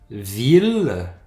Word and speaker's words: ville: va se prononcer hier sauf dans trois mots qu'on voit quand même souvent en français ville on prend ce l de cette fois-ci ville c'est une exception une autre mille comme